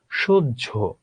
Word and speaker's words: সহ্য: উজ্জ, বাহ্যিক, সহ্য, এমন উজ্জ, বাহ্যিক, সহ্য। এটা হলো যখন আমরা হয়ের সঙ্গে জফলা যুক্ত করি তখন হয়ের কোনো উচ্চারণ থাকে না, এখানে বর্গীয় জ উচ্চারিত হয়।